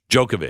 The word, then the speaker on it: Djokovic: Djokovic. Djokovic, yeah. It noted that Djokovic was such a problem because he became an anti-vaccine hero. Moderna's report stated the optics of Djokovic. Wild with Djokovic.